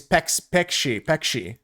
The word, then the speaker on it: peixe: Fish in Portuguese is peixe. Peixe is how you say pronunciation.